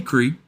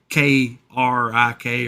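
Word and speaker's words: creek: a radiator and well how do you say the word c k oh well I say creep but some people say k r i k or well yeah up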